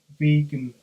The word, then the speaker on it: vegan: He took the first 3 and last 2 letters of that word, but wanted it pronounced completely differently, vegan, to emphasise its revolutionary import.